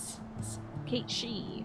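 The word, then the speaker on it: Cait Sith: behalf against you dunski oh so Kate Sith is pronounced Kate Kate she huh okay so might It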